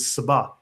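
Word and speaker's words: سبأ: Now he says here, for instance, down below, that in Arabic this is Sabah, right? Because the sh in the Jewish pronunciation becomes s in the Arabic pronunciation.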